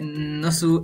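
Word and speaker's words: ナース: Claro que Nasu es una pronunciación de Nurse, pero en japonés, ¿no?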